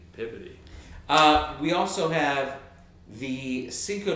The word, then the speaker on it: Peabody: Well, it's like Peabody in Boston is Peabody. Peabody.